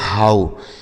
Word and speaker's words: how: यच से हो गया आपका हा। अब इस OW का उच्चारण बच्चों आऊ हो जाएगा। क्या हो जाएगा? आऊ, तो इसे पढ़ा जाएगा हाउ। इसे क्या पढ़ा जाएगा? हाउ। ठीक है, SLOW स्लो और HOW हाउ, इसे हो नहीं हाउ पढ़ा जाए।